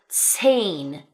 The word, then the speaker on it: zehn: And then we have 'z's that make a 'ts' sound right? A 'ts' sound as in the number zehn (10). This one being particularly difficult for many English speakers because you really, really have to enunciate.